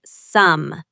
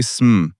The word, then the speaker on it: some: In natural spoken English, we don't say some, right? We say sm with a short uh sound.